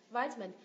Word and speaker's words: vitamin: Âm thứ ba cũng được nhấn nhưng nhấn nhẹ hơn này. Min. Và âm thứ hai này không được nhấn, unstressed syllable. Mình biến nó thành schwa sound, đọc là v. Vitamin.